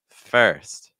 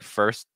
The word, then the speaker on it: first: So we want more of a first. First, first. So watching out for that. You can also pronounce it with more of like a held T. It's like first, first, first.